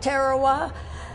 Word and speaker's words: Tarawa: The British pronounce it Tarawa, but I figure that we lost enough of our boys making the landing on that island. The Americans can call it anything they want to.